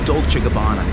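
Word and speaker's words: Dolce & Gabbana: Dolce Gabbana.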